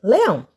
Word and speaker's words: leão: Onde eu demorei mais tempo? Muito bem, no ão. Se eu demorei no ão e o ão é a última sílaba, eu vou dizer que esta palavra é uma palavra oxítona.